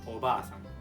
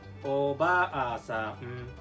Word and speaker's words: obaasan: The second lesson is about meaning and usage of the word obasan and obaasan.